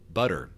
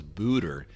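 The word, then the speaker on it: Buder: The first time I saw her name, I said Madonna Butter, because Budder. I didn't know it was Booter.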